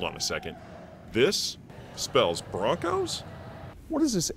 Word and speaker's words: Bronchos: they call you guys broncos broncos but it's spelled bronchos so and there actually